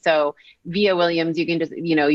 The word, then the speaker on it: Vija: It's pronounced VIA, but it's spelled V as in Victor, IJA. So VIja Williams, you can just,